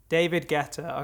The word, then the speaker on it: David Guetta: how do you say david greta's name guetta pronunciation david guetta david guetta okay yeah she did a track with david